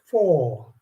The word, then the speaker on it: four: that okay that's four what happened to the r it goes silent and you keep the o longer so you pronounce that